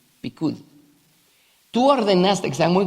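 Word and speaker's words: פקוד: Tus preceptos, porque es la palabra hebrea, así se pronuncia, pikud.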